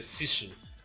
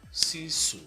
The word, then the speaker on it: sisu: the concept of a sissu am I pronoun did I pronounce it well sisu sisu yeah what does it come